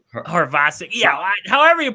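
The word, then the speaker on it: Havrisik: Let's just go Ravasic. Then the H is silent. That sounds right. The H is silent, doesn't it?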